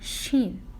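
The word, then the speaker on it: ش: but above it three dots how do we pronounce this letter this is letter Sheen she and its sound is Chef how do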